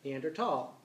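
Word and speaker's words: Neandertal: uh Johan neander and in German it's called neander tall um neander tall uh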